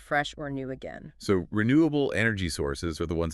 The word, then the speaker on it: renewable: Well, let's start with renewable. Any tips on how to say it clearly and confidently? Renewable. Okay, so the emphasis is on the second syllable, renewable, able.